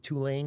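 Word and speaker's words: Tulane: Uh, went to college at Twolane University. Got to say it correctly. Two lane.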